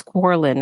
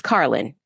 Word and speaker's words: Carlin: even pronounce her name I think it's Corin or car it's Carlin Kelly Carlin yes the daughter of George